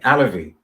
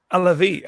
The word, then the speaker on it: Alavi: Alavi? Yes, rhymes with allergy. Alavi. Alavi, okay.